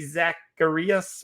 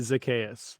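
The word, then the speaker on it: Zaccheaus: The options here, Amir Smith-Marset from Minnesota, then Damian Williams, Jacob Harris, Dawson Knox, Olamide Zacharias, whatever, I can't always say his name. Olamide Zacchaeus.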